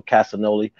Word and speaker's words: Castagnoli: Blackpool Combat Club of John Moxley and Claudio Castagnoli.